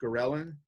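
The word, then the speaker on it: ghrelin: and histamine stimulate then there is gorilla kind of interesting spelling it's pronounced Karelin this is the hormone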